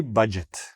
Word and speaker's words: budget: So, the "dg" just sounds like a "j", budget, and the "e" sounds like an "i".